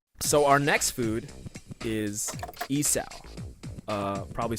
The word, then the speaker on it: isaw: So our next food is isaw. Probably said that wrong too. It's okay. It's a Isaw. common theme. Yeah. Isaw.